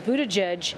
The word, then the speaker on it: Buttigieg: On Twitter, notably, he says Buttigieg, and he spells it. How did he spell it? Why don't you do that for everybody? B-O-O-T, so boot, E-D-G-E-E-D-G-E. Edge. Edge. Yes.